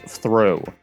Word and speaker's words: Throw: It's actually just pronounced throw.